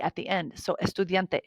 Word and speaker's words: estudiante: So estudiante, anytime you see the letter E, make sure you say the sound E.